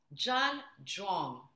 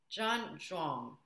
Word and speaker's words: Zhan Zhuang: So the first one is called Zhan Zhuang. It's spelled Z-H-A-N, and the second word is Z-H-U-A-N-G. Zhan Zhuang.